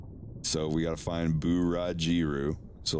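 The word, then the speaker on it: ブラジル: You think it would be Buraziru. Like Buraziru. Which it would, but there is no Z. Z becomes G, so it's Burajiru. Burajiru is how you say Brazil in Japan, in Japanese.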